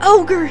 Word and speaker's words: ogre: And it's pronounced ogre, not Ani.